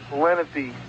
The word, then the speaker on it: Lenape: Okay, that Boy Scout name you were trying to pronounce is called Philanthropy. Philanthropy? Lenape.